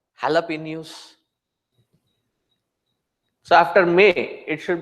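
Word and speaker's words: jalapeño: they ask the Mexicans they will write it as jalapeno but pronounce it as halapin so after May it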